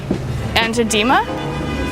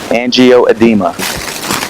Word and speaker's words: angioedema: Angio, like heart. Angio. Angioedema. Angioedema. No. Angioedema. No. That's right? That's correct. Okay. Angioedema.